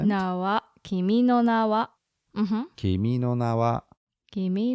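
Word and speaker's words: 君の名は: what no what yes so it kind of goes up yeah no kimi no na wa kimi no na wa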